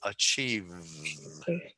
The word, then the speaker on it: achieve: And what you want to do is make sure that when you're saying the V sound, that your teeth, your upper teeth are on your lower lip and you were using your voice. And so achieve, achieve.